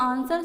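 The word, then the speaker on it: answer: तो आंसर जब हम बोलते हैं तो जो W शब्द है, W जो अक्षर है, शब्द नहीं अक्षर है, जो W अक्षर है वो यहाँ पर साइलेंट है।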